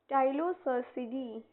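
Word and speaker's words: Ptilocercidae: बोलेंगे टाइलो 1 minute P पी इसमें silent होता है। टाइलो टाइलोसिडी इसमें जो पी होगा वो साइलेंट होगा।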